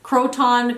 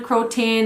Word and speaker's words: Croton: is my beloved Croton I know people pronounce it differently Croton crotin and cro I just say Croton I don't know it's what I've always done I love this plant